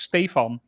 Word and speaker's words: Stefan: So if you look at how it's spelled, that's the German spelling of it, which is Stefan. Yep. But no, it's actually pronounced Stephen. So that always made things interesting. And the funny thing is, so I changed so my name is it's spelled the same in German, but in Dutch it sounds different. So it's Stefan.